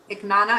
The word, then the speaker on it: Iknana: The mayor, Iknana, am I pronouncing it right? Iknana? Yes, you are.